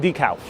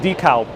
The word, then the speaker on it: DeKalb: Same thing with DeKalb. That's how they pronounce it here, DeKalb.